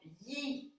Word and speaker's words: Yi: Intention in Chinese martial art is called Yi. It's spelled Y-I in Pinyin.